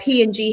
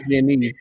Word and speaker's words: PG&E: And I know you being from the Bay Area, that explosion that P&G had out there, that was a major, major thing. That was huge. It's actually pronounced PG&E.